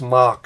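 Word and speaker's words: Mak: He goes off looking for Lazar-Sa, and Mac is it's pronounced Mock, I think. It's pronounced Mock, which has nothing to do with rock and roll.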